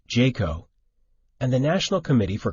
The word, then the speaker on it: JCAHO: also referred to as jcaho pronounced jaco and the national committee